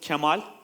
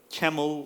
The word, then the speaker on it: Kemal: this by the way it's pronounced as Camal not camel or camel or something like that and how many of